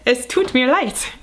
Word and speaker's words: Es tut mir leid: There's a bug on my light. Which rhymes with es tut mir leid.